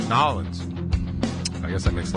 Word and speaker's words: New Orleans: lot because it's actually New Orleans is if you spell it out nollins I guess that makes